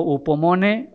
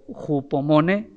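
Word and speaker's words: ὑπομονή: La palabra constancia sería la palabra griega, algunos la pronuncian como upomone o jupomone, que sería más correcto.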